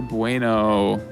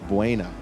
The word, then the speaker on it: Buena: You're looking for Bueno. That's not Bueno. It's Buena. There's an A at the end.